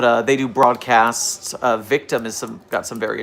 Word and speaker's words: VKTM: Uh, the group I'm going to tell you to look into today is Victim, which is spelled VKTM.